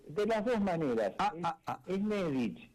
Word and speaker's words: Nedich: Es Nedich. Es Nedich porque lleva un acento en la e.